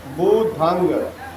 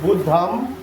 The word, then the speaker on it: बुद्धं: तो सही उच्चारण क्या है? ध्यान से हमारे शब्दों पर दीजिएगा। बुधंग बुधंग। ठीक है? शरणंग गच्छामि बुधंग शरणम गच्छामि गच्छामि लोग बोलते कैसे हैं ऐसे बोलते हैं बुद्धम शरणम गच्छामि अंतर समझ में आया